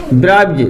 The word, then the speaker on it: bribes: हमने कहो यदि किसी शब्द का अंतिम अक्षर का होवे एस होवे और एस के पहले जे कंडीशन आ जावे जे वर्ण आ जावे तो एस को उच्चारण का निकल है जा।